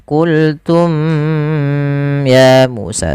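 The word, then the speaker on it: قلتم يا موسى: Izhar syafawi berarti membacanya dengan jelas suara mimnya tanpa ada menahanan. Tidak dibaca dengan qultum ya Musa, tapi langsung saja dijelaskan huruf mimnya, qultum ya Musa.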